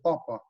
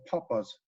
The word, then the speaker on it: papa: they're going to say papa. But I've heard people say papas, you know, almost like Spanish, like, you know, potatoes or something, papas.